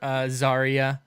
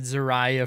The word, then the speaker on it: Zarya: finally yeah it's that this is just another Zarya you know I said xariah for the longest time so I'll get this